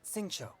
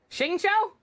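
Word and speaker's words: Xingqiu: Shingcho? But that's a U. Where the hell did you pull the O sound out from? Your ass? I don't think that's right.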